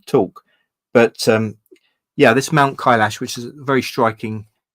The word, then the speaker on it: Kailash: So that's Mount Kailash, I think you pronounce it.